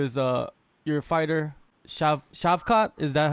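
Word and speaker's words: Shavkat: to go into is uh your fighter chef chef Kat is that how you pronounce his name yes chef Cod he he was supposed to debut last weekend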